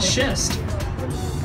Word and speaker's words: schist: break up with the show you'll say ah schist SCH IST get me dynamite it's why we